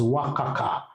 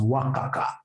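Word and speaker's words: WACC: that M you should be pronouncing this as wakaka pronounce this as Waka wakaka know that is very unprofessional how do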